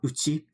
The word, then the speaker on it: 家: But here, we're using this kanji, but we do pronounce it uchi.